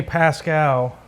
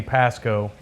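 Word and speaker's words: Pascoe: Well, mainly because Bentley Pascal, which I always say his name wrong, Bentley Pasco, was brought it up to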